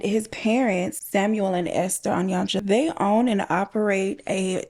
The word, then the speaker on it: Onyancha: Philip Onyancha, and that is how Google said the name is pronounced.